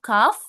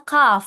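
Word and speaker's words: كاف: Nah, ini huruf kaf dibacanya kaf ya, bukan ka.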